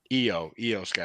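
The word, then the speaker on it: IYO SKY: Io Sky? Excuse me. I never pronounce her That name I right. is pronounced with the E sound for some reason.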